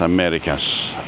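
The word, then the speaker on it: Américas: And because Americas has got an accent on the E, because there's an accent on the E in Americas, when you're writing it, you've got to put a little tick over the E.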